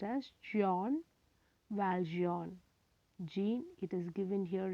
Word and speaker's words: Jean Valjean: noble bishop by victor hugo glossary first one gene valgein to be pronounced as john valjean it is pronounced as john valjean gene it is given here in english jean